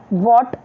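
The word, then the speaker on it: what: will be रंग okay यहां पे एच साइलेंट समझिए व्हाट व्हेन ओके और कोई भी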